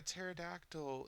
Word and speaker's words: pterodactyl: can't she hear a pterodactyl in the bathroom and of course I've heard this joke a thousand times you know it's because the p is silent and everybody laughs but